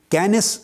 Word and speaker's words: Kenneth: اور سائنٹسٹ ہے professor کینس coming. کینس coming, کینس کے سپیلنگ لکھ لیں KENNETH، TH تھا کی آواز دیتا ہے سے کی۔ تو کینس کمنگ نامور